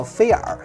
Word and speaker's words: FIIL: 刚拿到呢，你可能不知道它怎么念啊，它这个中文名叫菲尔，这也呢